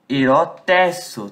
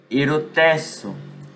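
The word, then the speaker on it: ἐρωτήσω: Ou melhor dizendo, eu tenho que parar de acentuar o O. Erotesso, tá? O acento é aqui. Erotesso.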